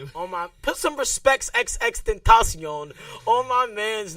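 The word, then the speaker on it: XXXTentacion: Put some respects XX Tentacion on my man's name. Stop playing with him. XXXXXXX Tentacion.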